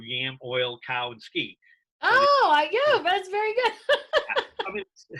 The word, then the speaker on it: Yamiolkowski: stuck yes i agree your name is a mouthful it's 12 letters but you know the way you said it it breaks down into four very distinct syllables that are very you know easily recognized you know yam oil cow and ski oh i do that's